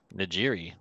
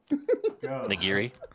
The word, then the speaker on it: nigiri: we flipping yeah yeah nigeri i think it's a hard g tony nigiri i stand corrected and just throw out